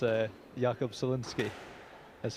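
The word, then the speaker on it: Solnický: I've been reliably informed that it that it's uh Jakob Sinski is how you pronounce it. Yeah, not Soniki as I was saying yesterday.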